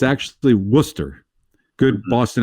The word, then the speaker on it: Worcester: spelled it looks like it's supposed to be pronounced Worchester but it's actually Worcester good Boston accent for the woxs uh and